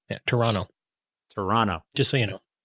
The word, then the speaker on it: Toronto: Toronto. You can give that a shot if you. Toronto. Toronto. The T is silent. Yeah, Toronto.